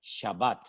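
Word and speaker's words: שבת: en el idioma bíblico la palabra es shabat shabat de la cual procede con las mismas letras pero cambiando la pronunciación vocálica la palabra chebet que significa sentarse o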